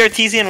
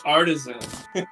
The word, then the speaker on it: artisan: He has the artesian loaf. That's cool. Artisan. Is that how you pronounce it? Man, wait, I'm sorry. What did you say before? Artesian. No, dude, it's artisan.